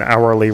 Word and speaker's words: hourly: actually being a vowel it's based on the pronunciation of it it being a vowel so an hourly report is correct not a hourly report cuz our has the pronunciation that starts with an o sound ah keing out over